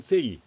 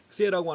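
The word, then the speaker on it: Say: 3 라는 학자가 있습니다 장 바티스트 3이 영어식으로 발음한 쎄이 앞으로 식으로 발음한 3라고 남자가 있는데 그 3 라고 하는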